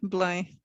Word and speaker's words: Belém: I can pronounce them: Cais do Sodré, Alcântara, Belém. This is the Portuguese way, of course.